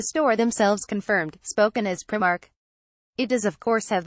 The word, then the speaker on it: Primark: I mean, the fact it's clearly said with the pronunciation of its I is a bit of a clue.